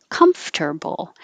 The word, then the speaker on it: comfortable: the m and then you have to open them enough so that your top teeth are behind your bottom lip making air flow com and then make a t comfortable comfortable not comfortable commercial commercial and we